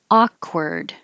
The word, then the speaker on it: awkward: touches calm calm down awkward awkward you can't make the k release and you hear it a little bit awkward ma'am it's the vowel